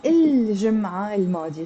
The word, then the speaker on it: الجمعة الماضية: But if I put L to جمعة, I'm not going to say الجمعة الماضية. No, it becomes, this T becomes silent and it becomes الجمعة الماضية.